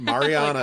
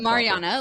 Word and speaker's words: Mariana: I just asked how to pronounce it. Um, Mariana. Mariana.